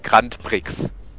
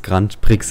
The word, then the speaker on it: Grand Prix: Grand Prix Strecke B nein grandpix ja weiß nochert einal so diskutiert hat dass es Grand Prix heißt ja Grand Prix wir sind hier in Deutschland da spricht man als Grand Prix aus Grand Prix im Auge